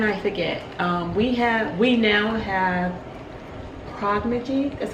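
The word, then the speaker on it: Progyny: We now have Prognigy, that's how you pronounce it.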